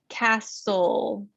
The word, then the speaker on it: castle: there's always an exception when the consonant is the s t l e when the syllable is preceded by an s and that t will be silent as well so we really only hear the o sound cast soul there's no t in that word castle whistle in the